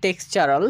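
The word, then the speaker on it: textural: তো প্রত্যেকটি ওয়ার্ডে আমরা কি পাচ্ছি? হ্যাঁ, আমরা টি এর পরে ইউ আর এ কে দেখতে পাচ্ছি, তাই আমরা টি এর উচ্চারণ চ এর মতো করছি। Okay fine.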